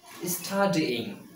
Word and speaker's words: studying: Three syllables. Studying.